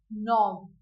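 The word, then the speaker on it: knob: हम न कहते जिसम के साइलेंट होता है सो के एन ओ ब और इसे हम प्रोनाउंस करते हैं एस नब सो आवर नेक्स्ट इ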